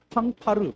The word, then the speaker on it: 팡파르: 어 이것은 소위 정확한 발음으로 팡파레 팡파르 팡파르 어 그런데 우리나라 말로 정확하게 해석할 말이 없기 때문에냥 팡파르라고 씁니다.